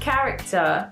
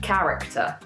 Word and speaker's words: character: As you can see in this word, there is a H, but we don't pronounce this H. So if we just take that out, actually, that's more like how the word should sound. Character.